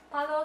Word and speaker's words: Paolo: But certainly not least, my absolute favorite designer, Paolo Sebastian. I'm pretty sure that's how you say Paolo, but I just find it's more fun to say it like Paolo.